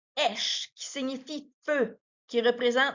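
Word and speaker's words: אש: Donc, les lettres Shin et Aleph se prononcent Esh, qui signifie feu, qui représente la présence divine, la purification et le jugement.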